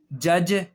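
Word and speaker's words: judge: डी डी के बाद जी आ जाए या डी के बाद जे आ जाए। तो दोनों सूरतों में डी साइलेंट हो जाता है।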